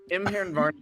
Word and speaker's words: Imvaernarhro: Varn, like the beginning of the word varnish, and then hero without the e.